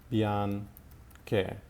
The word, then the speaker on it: bianche: the plural as well, bianche. So bianchi and bianche are spelled with the addition of the H to maintain the hard sound of the C.